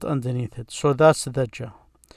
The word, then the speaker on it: ج: it so that's the gel the way you pronounce it is like this close to the j in english but it's more like the g in gem gym it's not like exactly